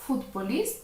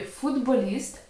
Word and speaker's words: футболіст: У слові футболіст. От звінчується глухий приголосний звук т. Що це означає? Одзвінчується. Він перетворюється на свій дзвінкий відповідник.